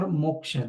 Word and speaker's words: moksha: Or the 4th ultimate goal of life is moksha, or the liberation. It's very interesting word in Sanskrit, moksha. Moksha, you see, there are 2 syllables, moha and ksha. Mo and ksha.